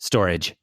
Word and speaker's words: Storj: referred to earlier storage which is pronounced storage but it's spelled with a J we we ended up